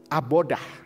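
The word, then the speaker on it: עבודה: Abodah, ya, tulisannya avodah gitu ya, bacanya abodah.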